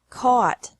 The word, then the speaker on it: caught: Catch, caught, caught. Fight, fought, fought. Seek, sought, sought. Teach, taught, taught. Think, thought, thought. Remember that the G is silent in these verbs.